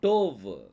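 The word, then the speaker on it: טוב: டோ அப்படின்னு சொல்லி வரும் கடைசி எழுத்து வ அப்போ டோவ் டோவ் அப்படின்னா குட் நல்லது குட் அப்படின்னு சொல்லி அர்த்தம்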